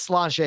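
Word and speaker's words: Sláinte: where does holly write here i think it's slash a is how you actually pronounce it where does totally rank on your irish whiskey cellante that's it chlante where does tully rank on your irish whiskey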